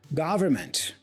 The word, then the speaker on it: government: Government, government. So the stress here is in the first syllable.